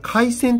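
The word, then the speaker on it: 疥癬: とかですね、これ回線って読むそうなん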